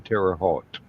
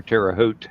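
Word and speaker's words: Terre Haute: it so um I I've always heard it Tera Hogue like the t is a G oh okay okay I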